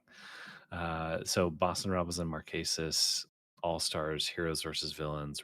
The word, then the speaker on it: Marquesas: I always mispronounce this season, but Marquesas? You got it. You nailed it. Dang. So Boston Rob was in Marquesas, All Stars, Heroes versus Villains, Redemption Island, and Winners at War.